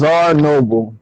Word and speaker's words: Czarnoble: you pronounce it is our noble the c is silent so c-z-a-r and then